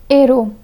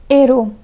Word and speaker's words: héros: The H in héros is an H aspiré, which means it acts as a consonant. In this case, the liaison must not be done.